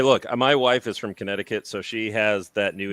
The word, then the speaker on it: Connecticut: By the way, You know- no American says Connecticut. It's Connecticut.